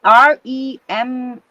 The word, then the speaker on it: Remini: Remini.